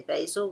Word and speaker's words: basil: Americans say basil, we say basil.